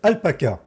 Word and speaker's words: alpaca: se retrouve sur le site alpaca prononciation à la française vous retrouverez le lien